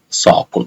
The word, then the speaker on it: SOQL: It's time to learn about the SOQL, Salesforce Object Query Language, also known as SOQL, pronounced as SOQL.